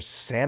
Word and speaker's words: sn: I say sn and cn. Some people say sun and kun or sin and kin or san and can.